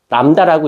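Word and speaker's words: λ: 람다라고 읽어요.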